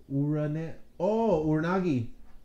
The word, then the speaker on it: Uranage: How the hell do you pronounce this move? I highlighted it for you. Uranagi. Oh, what the? Is that what it is? Uranagi.